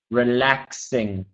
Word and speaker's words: relaxing: And then Ming, just the word relaxing. Okay, just the X there, relaxing.